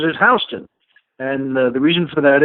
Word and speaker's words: Houston: is spelled Houston but everyone in New York pronounces his Houston and the reason for that is you ever